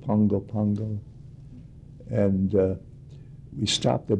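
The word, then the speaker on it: Pago Pago: we stopped at uh I think they pronounce it Pungo Pungo and uh we stopped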